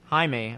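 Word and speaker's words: Jaime: my own head incidentally the spelling of Jamie should be Jamie or haime right he goes into haime other words it looks like the Spanish name which is pronounced haime and besides what kind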